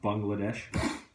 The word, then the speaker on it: Bangladesh: Berlin is a missionary in I always forget Bangladesh or as it's actually pronounced but bungle adesh I learned that from them by the way